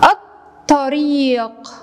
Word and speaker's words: الطريق: الطريق، الطريق، صورة طريق. لاحظوا هنا اللام لم ألفظها، كثير من الطلاب يخطئ فيلفظ اللام الشمسية، اللام الشمسية لا تلفظ فقط تكتب.